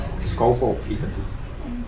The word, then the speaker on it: Skovgaard-Petersen: Well, in truth, it is Skovgaard-Petersen, because two A's make an O in the English. Nobody would recognize that anyhow.